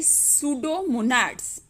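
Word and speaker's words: Pseudomonads: सूडोमोनाड्स P silent है।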